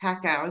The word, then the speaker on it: Packouz: incredible inventor who is joining us today David Paco did I pronounce it correctly you did good job yes